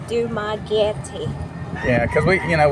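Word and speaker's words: Dumaguete: Cuz I hate I mispronounc Dumagetti. It spells Dumagetti. D U M A G U E T E. Dumagetti.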